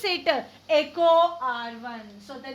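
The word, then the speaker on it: EcoRI: So how to pronounce it? Echo R1.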